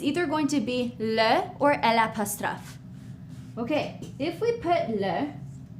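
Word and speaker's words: eau: Same thing for o. Okay. Water. O. Here's how we spell it. E A U.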